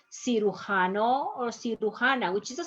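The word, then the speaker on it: cirujano: having trouble with this it's not si lujanos janna is si hano or si which is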